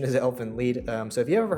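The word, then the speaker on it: Elfen Lied: through four of elfin lead i used to pronounce this elf and lied but the correct pronunciation is elephant lead um so if you've ever heard me say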